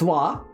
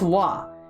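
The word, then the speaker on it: は: own PowerPoint very cool the wah particle pronounced wah it's written as ha but it's pronounced wah and every time I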